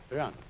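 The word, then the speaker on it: 仁: Although when we Romanize this word in English, we spell it J-E-N, it's pronounced Run. Sort of like rolling an R, or rather saying R but not rolling it.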